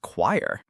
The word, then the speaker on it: choir: Who would guess it's pronounced choir?